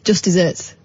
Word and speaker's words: just deserts: I didn't know this I thought it was just desserts as in ncka glories why would it not be it's pronounced Just Desserts you got your did you